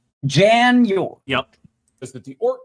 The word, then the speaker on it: Jan: Ort's first name, I'm drinking for it because it's Yan, but it's spelled with a J." Jan.